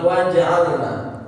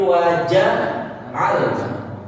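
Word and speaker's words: وَجَعَلْنَا: Di huruf jim ini. Ya. Dengan lancarnya hafalan umpamanya, sehingga bacaannya tidak teliti. Waja'alna, padahal bacanya bukan hurufnya bukan sukun, bukan qalqalah. Bukan waja'alna, tapi waja'alna. Hidupkan huruf jimnya.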